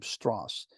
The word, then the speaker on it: Strauss: in oppenheimer's life uh Louis Strauss that's how he pronounced his name Strauss and he like he was like a you know like a reserve Admiral so he liked to be addressed as admirable Louis straws and he's going to